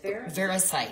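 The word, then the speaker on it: variscite: Verisite. Verisite. Mm-hmm. Yeah, okay. You are not. Verisite's super expensive, and this type of material, like, yeah, it's beautiful, and it's from Australia. You just don't see verisite being used because of the costing.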